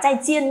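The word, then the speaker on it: 再见: À, không ai đọc là zài jiàn nhá.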